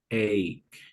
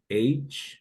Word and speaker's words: ache: This particular word, we pronounce it like this. Ache. Ache, yeah, ache. So we say toothache. Toothache. Toothache. Backache. Backache. Headache, right? So that's the way we pronounce it. Sometimes for any reason people they pronounce it H, but that's not, that shouldn't be right. At least in American English they pronounce it ache, right?